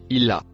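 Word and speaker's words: إلى: Le mot écrit en vert se prononce illa. Il se traduit par jusqu'à. Le mot écrit en violet se prononce an.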